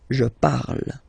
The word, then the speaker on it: je parle: put the ending e, and then the way to pronounce it is je parle, parle. So remember, we put it, okay, but then we don't really pronounce it.